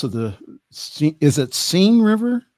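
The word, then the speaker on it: Seine: of the goddess of the SE is it sing River sen sen River okay the sen River see that's why I have you for pronunciations for the sen River he says the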